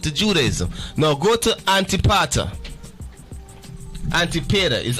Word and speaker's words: Antipater: Now go to Antipater. Antipater is Antipater. Am I saying it right? Antipater. You got it.